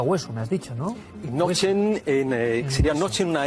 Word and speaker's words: Knoche: Nochen, sería noche en una N más al final, sería hueso. O Noche, como van a escuchar ahora, que se pronuncia en alemán.